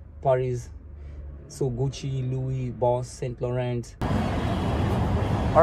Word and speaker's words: Saint Laurent: Yeah, I think that guy just said it right. He's French. He said Saint Laurent.